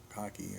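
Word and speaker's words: khaki: bone or kahaki fabric we pronounce kakei I think soft flexible and waterproof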